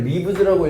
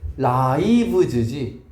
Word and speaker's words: lives: 이걸 lives라고 읽으면 영어를 때려치세요. 초등학생이니까. 얘는 뭐라고 읽어야 돼? lives지.